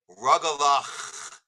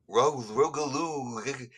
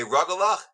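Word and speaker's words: rugelach: So suddenly I was giving them a diction lesson on how to pronounce the CH in Hebrew, that it's a ch sound.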